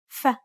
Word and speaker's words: ف: ظ ظ ظ ظ The final consonant sound for this lesson is ف فتى فيل مفيد It's identical to the F in find or forest.